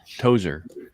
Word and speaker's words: Tozier: first of all how do you say your last name my last name's tozier tozer that's right yeah i think i